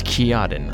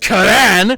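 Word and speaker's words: Ciaran: It's Kiadin. I don't know why. It just is. Actually, dumb It's pronounced Karan, not Kiarin.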